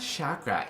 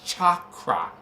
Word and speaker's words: chakra: It's not chakra, it's chakra. That's what I said. No, you said sh. I said ch.